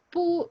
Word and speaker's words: 不: We know 不, if it is followed by a character with the fourth tone, it is we say it as the second tone or pronounced as the second tone.